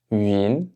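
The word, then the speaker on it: 云: Donc maintenant, on va s'entraîner à prononcer cette finale, donc avec le caractère UIN, UIN, donc ici deuxième ton, UIN, donc c'est le caractère qui représente un nuage.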